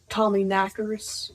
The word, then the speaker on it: Tommyknocker: of hagstones and Tommyknockers. Tommyknockers. I'm assuming they're also called Tommyknockers. Yeah, but the correct way to say it is Tommyknocker.